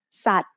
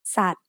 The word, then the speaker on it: สัตว์: For example, here's the word สัตว์ which means animal. The initial consonant is สอเสือ which makes an S sound.